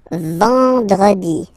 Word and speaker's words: vendredi: Then, EN, nasal, and it's en, en. So remember, vendredi, vendredi, vendredi, vendredi.